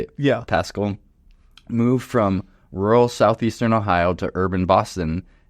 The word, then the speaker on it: Pascal: Pascal, moved from rural southeastern Ohio to urban Boston, and they absolutely love it here in this busy, fascinating, fun city.